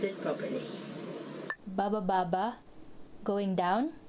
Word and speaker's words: baba: Baba, going down. This first one is actually a sentence, and it's just made of one syllable, which is ba. So it goes baba. It means going down.